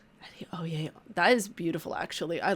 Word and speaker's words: Adeoye: because I would love to know how it's pronounced. Addio. Addio.